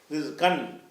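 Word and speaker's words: رِزْقًا: நீங்கள் அதை 'qaan' என்று படிக்க வேண்டுமா? இல்லை, நீங்கள் அப்படிச் செய்யக்கூடாது.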